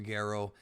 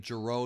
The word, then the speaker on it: Gero: Gero, and I'm using Gero because that's his Japanese name. Jiro is what they call him in the dub, but Gero is the right way to say it.